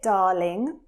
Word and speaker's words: darling: Now, as you can hear, I'm not pronouncing the R. It's very, very soft and it has more of a long A sound. So when we say darling, you really hear a long R sound.